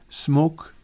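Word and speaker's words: Smoque: Every camera that I've got, including the one that I use for the Sunday plugin videos, are using those Smoke 2 filters. It's spelled with a Q, S-M-O-Q-U-E.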